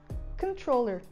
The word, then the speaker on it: controller: E a gente fala controller, controller. A sílaba tônica é tro, então a primeira sílaba vai vir com o som de vogal do schwa, controller.